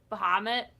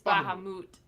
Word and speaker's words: Bahamut: you're right you're right there's a final fantasy pronunciation that I have wrong for the longest time was Muhammad it's Baha moot yeah I've heard Muhammad